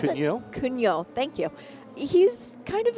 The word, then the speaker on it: Cugnot: How do you pronounce it? Cugnot.